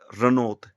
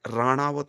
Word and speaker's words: राणावत: इसी प्रकार जैसे रनौत कंगना रनौत बोलते हैं। यह राणावत गोत है। राणावत क्योंकि इंग्लिश में ण नहीं लिखा जाता।